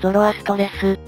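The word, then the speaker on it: Zoroastres: 言語で言えばザラスシュトラという発音が近いようだが古代ギリシア語ではゾロアストレスと発音したようだ古代ギリシアっぽい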